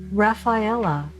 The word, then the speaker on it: Raffaella: If you pick number 9, your guide is named Rafaela, and that's spelled Raffaella, Rafaela.